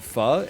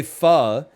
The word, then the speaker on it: pho: rich in cilantro they go Oh you mean faux and then you have to be the snob who is like well actually it's pronounced fa so I said I'm sidestepping that